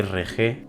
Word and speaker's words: Hergé: es tan bonito porque su Creador RG pronunciación de RG r g vivió un periplo que